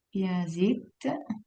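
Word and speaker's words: piasìt: Piasit, come lo scrive? Piasit. Piasit. Sull'ultima I. Piasit, sull'ultima I, perfetto.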